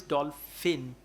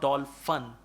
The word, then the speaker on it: dolphin: with few words like the word is dolph finn not doll fun you said doll fun at three four times you said that then